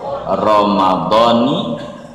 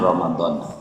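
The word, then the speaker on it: رمضان: Jadi bacanya nawaitu shauma ghadin an adai fardhi syahri ramadhani hadhihi sanati. Jangan Ramadan, biarin yang salah-salah, jangan dengerin orang yang salah-salah, jangan.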